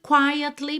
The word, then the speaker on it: quietly: And pray for the thunder and the rain to quietly pass me by. Aqui, olha, na palavra quietly, essa letra E é pronunciada. Perceba que a gente tem quietly. Quietly. Alr, olha, vitória da letra E.